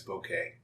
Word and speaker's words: bokeh: the day is bouquet from everything that we've found we see that the pronunciation is bouquet and that comes from a japanese language which means blur yeah and it doesn't